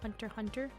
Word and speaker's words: Hunter x Hunter: It's like how Hunter x Hunter is said like Hunter x Hunter. Hunter x Hunter. See, I'm used to saying, every time seeing the X like that, I'm used to saying times.